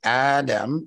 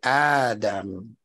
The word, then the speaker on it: Adam: is even when ad notice how I'm pronouncing his name I didn't say Adam as the scholars give it to us with the Meda over the AL every time you see